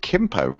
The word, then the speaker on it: Gimpo: Oh, apparently they pronounce it Kimpo.